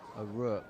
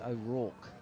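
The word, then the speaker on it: O'Rourke: this to Mid on I've been pronouncing his his name incorrectly all T who's that oo ack I've been saying aook aook it's ack so better late than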